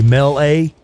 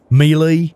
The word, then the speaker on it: melee: Say melee. Melee. Say it how you say it. It's melee. I don't give a shit what anybody says. That's me, Lee, as in, hello, my name is Lee.